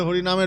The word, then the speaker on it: হরে: বিদেশীদের জীবের জিহুবার গঠনটা এমনভাবে তৈরি তারা এমনভাবে বলা অভ্যস্ত তারা অ এর উচ্চারণ করতে পারে না। তাই ওরা আ এর উচ্চারণ করে। কৃষ্ণা বলে হারে বলে।